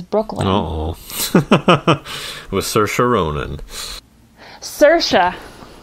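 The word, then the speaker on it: Saoirse: uhoh with sir sherona cersa rhymes with a nura anytime yeah anytime I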